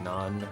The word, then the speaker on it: naan: word because I mean obviously it's spelled n a a n but when I when it hits my ear I I hear n o n like not like it's not bread it's non bread.